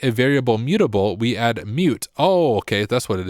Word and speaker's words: mut: So we can say mut is pronounced mute, right?